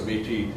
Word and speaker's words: Métis: When I pronounce it in French, it's Métis. You don't pronounce the S.